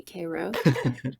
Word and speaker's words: Cairo: town called kro Georgia spelled like Cairo Egypt but they definitely say Koo of the surup makers